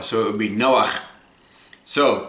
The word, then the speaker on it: Noah: word for comfort now in hebrew there's actually a ch at the end of noah so it would be noah so say with me